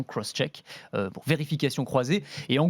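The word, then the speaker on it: XCheck: et qui s'appelle crosscheck ça s'écrit x tchèque mais ça se prononce visiblement crosscheck pour vérification croisée et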